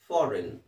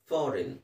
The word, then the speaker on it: foreign: ಸೊ ಕೊನೆಗೆ ಜಿ ಎನ್ ಬಂದರೆ ಎನ್ ಅಂತ ಹೇಳಬೇಕು, ಜಿ ಸೈಲೆಂಟ್ ಆಗಿರುತ್ತೆ. ಫಾರಿನ್, ಫಾರಿನ್ ಅಂದರೆ ವಿದೇಶಿ.